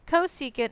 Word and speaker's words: cosecant: Cosecant abbreviation is CSC. Okay, so anytime you see CSC is actually pronounced cosecant.